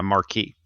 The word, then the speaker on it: marque: a letter of Marquee yeah Marquee but it's spelled m-a-r-q-u-e right right um so a